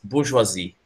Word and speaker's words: bourgeoisie: It's bourgeoisie. It's French.